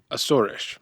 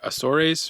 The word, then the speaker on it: Azores: As far as pronunciation goes, the correct native pronunciation is "Ah-ssor-esh." The American way of saying it is "Ay-zores" (southern accent) or "Ay-zores."